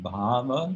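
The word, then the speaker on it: bhāva: existence in this context the word baba with a long a means emotion feeling mood can mean ecstasy as in the stage of advanced devotion described by rupa gosvami but here bhava with short hair uh comes from the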